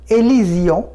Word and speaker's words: élision: আজকে আমরা যে বিষয়টা নিয়ে আলোচনা করব এটা ফরাসিতে বলা হয় এলিজিয়ন। সামনে যদি একটা আর্টিকেল দিই তাহলে উচ্চারণটা হবে লেলিজিয়ন।